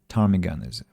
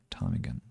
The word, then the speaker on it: ptarmigan: Ptarmigan is the pronunciation. I'm sorry, ptarmigan.